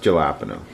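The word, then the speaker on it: jalapeño: It's pronounced jalapeno.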